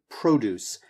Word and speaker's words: produce: And then this last word, produce. Make sure that you have a really nice, strong emphasis on the first syllable.